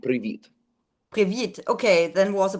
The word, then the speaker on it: привіт: Привет is Russian. In Ukrainian, it would be привіт.